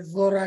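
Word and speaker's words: Zahra: આપણે જારા કે ઝારા કે ઝોરા કે, ઓકે, નંબર વન.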